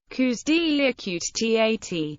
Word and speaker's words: coups d'état: Coups deï, pronounced like the singular form, also known simply as